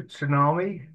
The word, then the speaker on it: tsunami: that there's a to Tsunami uh coming your way a what a tsunami what a tsunami yeah you don't but yeah you don't pronounce the T um of immigrants at